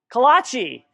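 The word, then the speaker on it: kolache: Anyone know what's a kalowski? Am I saying it right? Kalachi. The k.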